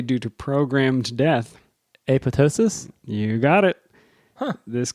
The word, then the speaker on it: apoptosis: my field of study I'd like to note that the second p is silent no popping here so Justin is referring to the app pop Tois versus apotosis apotosis he he goes on